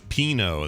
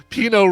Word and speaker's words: Pinot: But Pinot rhymes with Beano, so I was thinking, it's like a play on Beano.